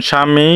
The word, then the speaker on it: স্বামী: দিচ্ছি এক নাম্বারটা হচ্ছে শব্দের শুরুতে ব ফালা থাকলে বফলার উচ্চারণ হয় না যেমন স্বামী স্বদেশ ইত্যাদি দুই নাম্বার শব্দের মাঝখানে